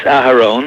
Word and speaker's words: Aharon: It's Aharon. Aharon. In Hebrew, but Aaron is also okay. I didn't know if it was like a silent H or if it was a H I should Hebrew stress. Hebrew is pronounced H. Aharon.